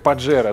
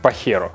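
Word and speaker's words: Pajero: Слово испанское, как «Паджеро», только на самом деле у испанцев произносится как «Пахеро».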